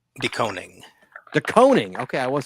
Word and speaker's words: DeKoning: Doning.